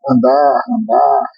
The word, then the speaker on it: Handar: Depois pedir que você explique qual é a pronúncia do seu sobrenome. Tá, Né? joia. Andar.